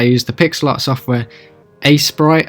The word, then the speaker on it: Aseprite: the pixel art software a Sprite I believe it's pronounced it's the first time